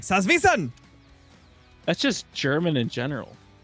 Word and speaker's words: Salzwiesen: jaxi literally said that if you want to pronounce Sal salvon part correctly just say it Angry like salvan that's just German in